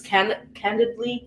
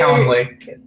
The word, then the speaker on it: Calendly: I know everybody uses Candidly. I don't know how to pronounce it. Not Calendar. Calendly.